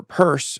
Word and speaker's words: Peirce: advocacy uh Pierce says or purse as it's pronounced on her voicemail uh purse said is